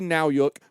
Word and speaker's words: Nowyuk: It says, Jeffrey Nowyuk rhymes with cowbook.